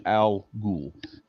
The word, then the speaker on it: al Ghul: anyway yeah you you pronounce it al ghul that's how you would say yeah anyway but yeah